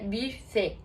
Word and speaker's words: buffet: Na verdade, nenhum dos dois, porque em francês esse U tem um som exatamente no meio entre U e I. Então ficaria buffet.